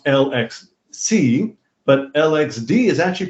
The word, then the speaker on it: LXC: i just discovered that alexey and is is pronounced l x see but lxd is actually pronounced lex the cause